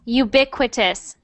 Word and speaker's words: ubiquitous: It's ubiquitous. Ubiquitous, yes. So not UB, but ubiquitous. Ubiquitous.